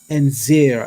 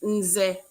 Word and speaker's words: Nze: It's Nze. So it's just the N sound, nze, and that's what it means, chief.